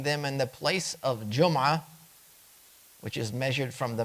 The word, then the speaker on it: Jumu'ah: And there's a dhamma, Jumu'ah, Jumu'ah. The dhamma is the default, but all 3 of them are acceptable.